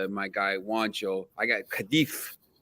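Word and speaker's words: Cádiz: I got Cadiz. It's Cadiz. You're in Spain, yeah. The Z is like a TH, so it's like so like Cadiz.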